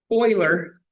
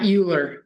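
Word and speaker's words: Euler: do the trig functions Oiler and Oilers formula and yes it's pronounced Oiler not uler I thought it was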